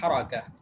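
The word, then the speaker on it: حركة: ঠিক আছে, আমরা ফাথা দিবে, বিফাতহিল র, বিফাতহিল র, রার মধ্যে ফাথা দিয়ে বলবো হারাকা। হরকত বাংলায় বললে একটা বিষয় হরকত, কিন্তু যখন আরবিতে বলবো তখন সেটি হবে হারাকা, হারাকা, হ্যাঁ।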